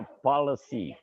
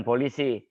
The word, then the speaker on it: policy: ada di perusahaan itu bahasa Inggrisnya Policy bukan Polisi Policy bacanya policy ialah pedoman untuk bertindak